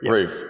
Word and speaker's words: RUF: RUF. Roof. That's it's like the roof up there. Yes. Okay. The thing on top of your house, not the TV on top.